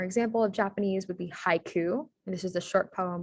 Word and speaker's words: haiku: 17 syllables okay so you basically have in japanese the i sound dispelled with an a i and then the u sound dispelled with just a u uh we don't have to go fancy or do an o u or anything like that in japanese it's just spelled you um so the correct